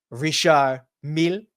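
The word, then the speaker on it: Richard Mille: she's wearing I believe if you want to pronounce it correctly it's a rishar m right it's the same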